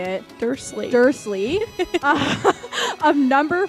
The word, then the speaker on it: Dursley: Okay, I actually don't know how to pronounce the name. How would you say it? Dursley.